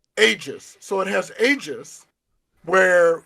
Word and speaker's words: Aegis: Yeah, like pretend it's a J and then you're all good. Aegis.